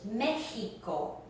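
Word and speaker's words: México: And it sounds like the H in English, Mexico.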